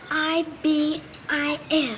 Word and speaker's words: ibis: he'd be something else I don't know how to say it it's i b i s ibus yes Ibis tell me something hi